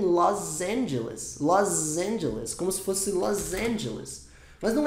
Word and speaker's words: Los Angeles: é wilever and los angeless como se fosse Los Angeles mas não é los angelas é Los Angeles com s ou acende a